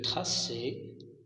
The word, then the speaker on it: traçais: Je traçais, tu traçais, il traçait. Mais regardez ici, pour le verbe tracer, on va ajouter la cédille pour ne pas prononcer K.